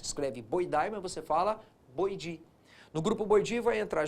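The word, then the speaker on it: Boidae: grupo que é chamado de como que eu disse escreve boidi mas você fala boidi no grupo boidi vai entrar gibo e vai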